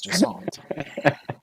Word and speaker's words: Jusant: Yes, it's Jusant.